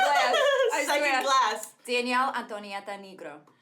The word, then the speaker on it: Danielle Antonietta Negro: Danielle Antonietta Negro. And that's how you say it in Italian.